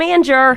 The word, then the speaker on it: Angier: And people all the time, all my friends would be like, Angie from Anger. There you go. So, yeah, I've heard that one more than once. If only it was Angier. Yeah. Angie from Angier.